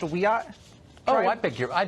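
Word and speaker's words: Wiyot: Madison Flynn is a member of the Wyatt Tribal Council in California and she joins us tonight Madison thanks for coming on hi thank you for having me it's pronounced we are oh I beg your I beg your pardon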